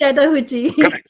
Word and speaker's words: Chattahoochee: you pronounce it? Chattahoochee. Chattahoochee.